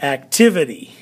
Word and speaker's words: activity: active active the act the accent is actually on the very beginning so it's active but when we add the ity word it's activity so the the um accent is on different parts of those words which i think is